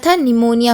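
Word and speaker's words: pneumonia: ज्यादा बीमार पड़ते निमोनिया निमोनिया हो गया था वो स्पेलिंग आप ध्यान से देख लीजिएगा it's from happy birthday piece silent okay reply in hair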